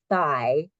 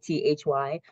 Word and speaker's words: Thy: And the name of his adaptation is Thy, that's how you say it, Thy, like Thy, Thy Hard.